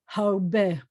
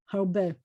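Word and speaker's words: הרבה: In both cases, the hey at the end of the word is silent. And in both cases, the accent is at the end of the word.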